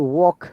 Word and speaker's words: walk: We say it is walk, W-A, yeah? W sound, Wow. most of the cases, wa, not wa, it was sound. W should be wa, but it is wo.